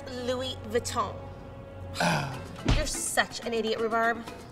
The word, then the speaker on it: Louis Vuitton: label walmart soundtrack or is it last season's lose vitoon it's pronounced louis vuitton you're such an idiot rhubarb cinnamon that is